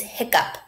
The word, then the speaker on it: hiccup: two syllable word is hiccup hick up see that double c there is not hick up it's just one k sound right so that double